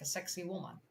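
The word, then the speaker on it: Sacsayhuamán: Sacsayhuam. It's indeed a Sacsayhuam. Because, you know, it should be pronounced like a sexy woman.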